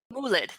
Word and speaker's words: moulid: a little bit in jte1 which were egyptian moelids and i'm pretty sure i'm not pronouncing that properly so would you uh say that for me a moolad thank you yeah excellent um but before we